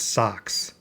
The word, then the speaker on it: SOSCS: My wife promptly named it SOSCS, stands own Sphere computer system, pronounced socks.